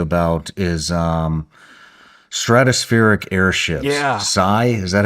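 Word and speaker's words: Sceye: Sigh. Is that how you say it? Sky.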